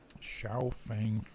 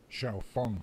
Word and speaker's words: Xiaofang: And if it's spelled fang, then it's pronounced fang.